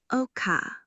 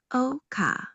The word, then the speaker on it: ọkà: Spelled O-K-A with mid-tone on O, K, then A is a low tone. You may tell your students, Oka.